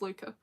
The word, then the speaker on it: Luke: And also it's spelled Luke, but because she's Dutch, it's pronounced Luca. So it's spelled L-U-K-E, but pronounced Luca.